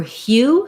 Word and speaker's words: hue: For hue, same thing, just substitute an H for your k, for your k. So we still have, again, hue. We still have that glide and hues.